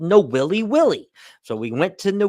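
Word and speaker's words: Nawiliwili: port like this but most of you would know it as Kawai but it's really called No willy willy so we went to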